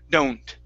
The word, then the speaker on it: don't: you H is the word don't with the O here okay it's a dip thong o do don't don't one more time